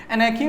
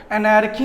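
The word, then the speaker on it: anarchy: एनैकी में आर जो है वो साइलेंट है, तो इसको दिमाग में बैठाए रहिएगा। एनैर्की नहीं बोलेंगे, क्या बोलेंगे? एनैकी।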